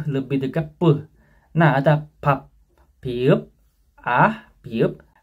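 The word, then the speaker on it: 밥: Kemudian biup sama piup ini ada menjadi piup, tapi bacanya puh, lebih dekat puh. Nah, ada pap, piup, piup, b, a, p, ya bukan b,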